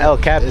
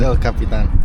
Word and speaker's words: El Capitan: It's not El Captain. It's El Capitan. El Capitan. Yeah, I guess in Spanish if it's El, so El Capitan.